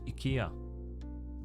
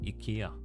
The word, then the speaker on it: IKEA: easily how do you pronounce Ikea in Swedish Ika you pronounce it Ika let me see montering a document oh there it is here I downloaded the PDF that shows me how to amount it Ika yeah that's how we pronounce it Ikea Ikea